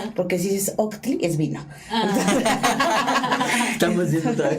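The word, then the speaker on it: Ohtli: se escribe H-O-H-T-L-I, y Santos nos enseña que es la H, esa H para que signifique camino se tiene que decir Octli, como si fuera una aspiración, porque si es Octli es vino.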